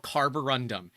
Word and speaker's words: carborundum: And that's funny because Creality printers, and I routinely mispronounce it, but it's called carborundum.